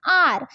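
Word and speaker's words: hour: बट हमारा एच जो है वो साइलेंट हो जाता है। तो ओ यू आर आर निकलता है।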